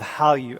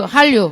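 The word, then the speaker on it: 한류: Han means Korea. Ryu means wave. So Korean wave. Hallyu. Hallyu. Hal. Hal. The tongue is like L bottom.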